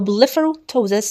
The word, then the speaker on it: blepharoptosis: So, blepharoptosis means drooping of the eyelid. Remember, the P is silent.